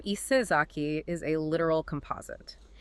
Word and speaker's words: Isezaki: You take the ayas from Issei Nakamura Jihei, the sa, which phonetically softened to za over time, from Sagawa Juemon, and the ki from Sasaki Shinguro.